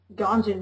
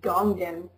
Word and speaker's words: Ganjin: Yeah, I recall how Ganjin used to be Gongin, but we managed to fix that eventually when everyone started just saying the right one.